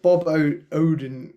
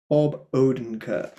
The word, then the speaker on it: Bob Odenkirk: nobody i've not seen this yet nobody so bobo odin right i'm going to say his name right um without saying like an idiot uh bob odenkirk so okay well the thing is this is